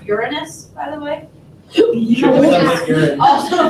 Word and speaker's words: Uranus: Yeah, I It's actually pronounced Uranus, by the way.